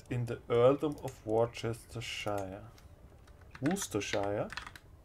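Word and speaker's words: Worcestershire: get the earldom of warchestershire am i interested in the earldom of warchestershire woostershire ah yes i think that's the that's the wooster shell right that's how i pronounce it from him i could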